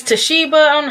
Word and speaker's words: Toshiba: I was reading this and it's got an O in it, and I said Toshiba. It's Toshiba.